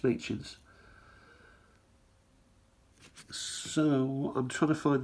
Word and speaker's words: Machin: But one of the old Queen's heads there, Machins, I think they're called. Or machines. I'm sure somebody will correct me with regards to the pronunciation. I think it's Machins.